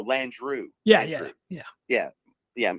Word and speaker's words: Landrieu: like they got this isn't that landro or you just said landry or am i pronouncing that wrong too no lan drew yeah yeah yeah yeah